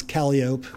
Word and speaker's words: Calliope: muses, Thalia, Euterpe, Terpsichore, Calliope, which in New Orleans you pronounce Calliope, by the way.